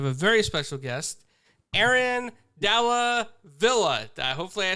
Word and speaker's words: Dalla Villa: today we have a very special guest Aaron dala Villa hopefully I said that correctly if I say